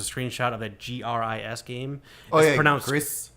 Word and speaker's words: Gris: Greece. It's pronounced Greece.